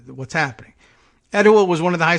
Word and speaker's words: Etowah: oh uh at any rate this is at etowah high school i hope i'm pronouncing it correctly e-t-o-w-a-h uh nearly 300 students